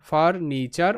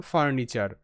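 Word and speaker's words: furniture: আর ফার এন আইনি টি ইউ আরই চার ফার্নিচার ফার্নিচার ফার্নিচার ওকে তো বাকি শব্দগুলো দেখো নেক্সট যে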